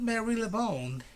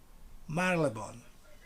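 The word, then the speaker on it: Marylebone: city this neighborhood but it's not marilla bone it's marlavon marlbon you don't pronounce the y marleybone okay not mary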